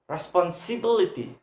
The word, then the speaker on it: responsibility: must have a stress we must put put under third syllable responsibility responsibility responsibility next example